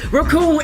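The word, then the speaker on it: Recoome: Raccoon and the... It rhymes with Doom.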